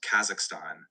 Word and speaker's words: Kazakhstan: So, that's pronounced Kazakhstan. It's got that K sound at the start, kind of a throaty ka, and then it's zakhstan.